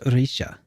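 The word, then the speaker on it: Rixia: you are actually actually her name is pronounced Risha oh my God oh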